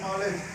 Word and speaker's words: knowledge: अब यहाँ पर देखिए दो चीज़ें यहाँ पर साइलेंट है, यहाँ पर डी और के क्या है, साइलेंट है।